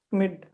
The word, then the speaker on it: Schmidt: Schmidt. Okay, sir. Scammon. Acha, okay. You are actually you're not pronouncing S.